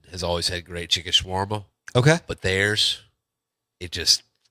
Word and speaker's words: shawarma: What is there, a smarma, or how do you say it? Shawarma.